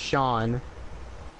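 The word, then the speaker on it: Seán: Irish way, where it's like seen, but it's pronounced Sean.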